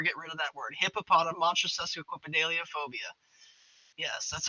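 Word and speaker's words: hippopotomonstrosesquippedaliophobia: Hippopotam monstrosidelophobia.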